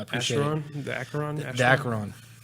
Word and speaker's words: Acheron: The Acheron. Which we're saying it wrong. I know It's Acheron.